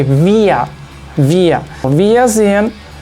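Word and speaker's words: wir: group we pronounce it via remember that the W you can check the pronunciation in the video in the previous video that I made W in German is V so we say via via VIA in F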